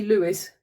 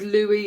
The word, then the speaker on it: Louis Armstrong: Well, I know you're supposed to say Lewis because that's how he pronounced it.